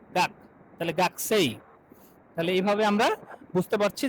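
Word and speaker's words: 学生: ই, তাহলে গাকু সেই, কিন্তু আসলে এটা কি হবে, উচ্চারণ কি হবে, গাকসেই, গাক গাকসেই। এখানে দেখেন তাহলে যে কু, এই যে কু এর উটা আপনার ডিভয়েসিং হয়ে গেছে, মানে ভয়েসটা নাই হয়ে গেছে।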